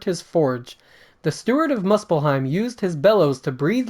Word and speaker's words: Muspelheim: I think you said Muspelheim wrong. You said Muspelheim or something. How is it pronounced? Muspelheim? Yeah, Muspelheim. I thought it was Muspelheim. I think it's Muspelheim.